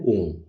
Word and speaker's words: ओम: अ उ म और नाद और बिंदु इन पांचों को मिलाकर बनता है ओम जिसका उच्चारण ओ अक्षर की ध्वनि का कंपन हमारे नाभि और उ अक्षर की ध्वनि का कंपन हमारे माथे और म अक्षर की ध्वनि का कंपन हमारे गले में महसूस होना चाहिए।